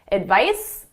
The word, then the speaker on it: advice: The S is at my lips, it's unvoiced. The Z is in my throat, my vocal cords are engaged, it's voiced. Advice, advise, advice, advise. So the pronunciation is very different.